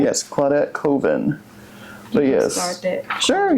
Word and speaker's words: Colvin: shed more light on let's call that Coven. Did I say her name right? Yes, Claudette Colvin.